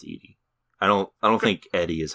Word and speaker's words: Edie: Oh, I thought it was Eddie Falco. I've heard it's pronounced Edie.